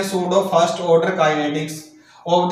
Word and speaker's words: pseudo: अब भाई ये इंग्लिश वालों ने बना रखा है, वैसे तो ये सूडो है, लेकिन इसको बोला क्या जाता है सूडो बोला जाता है, क्योंकि इसमें पी क्या रहता है साइलेंट रहता है।